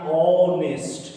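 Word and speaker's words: honest: Article तो मैंने का है, लेकिन यहाँ पर जब उच्चारण करेंगे तो आ गया ऑनेस्ट।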